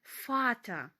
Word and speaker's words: Vater: імена відео вітамін віолет запам'ятаємо слово батько батько німецькою мовою звучить як Дея фата батько де фата і знову маємо артикль